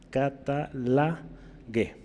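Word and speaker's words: καταλλαγή: Esta primera se lee como catalegué. No es cata, es catalagué. Catalagué, ¿sí?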